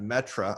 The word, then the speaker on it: Metre: me on twitter at metra i say it it's pronounced different than spelled m-e-t-r-e-yeah and i